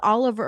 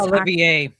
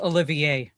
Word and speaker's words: Olivier: Uh, Rachel Zgler won this year's Lawrence Oliver Award for best Olivier. Huh? It's pronounc it's pronounced Olivier.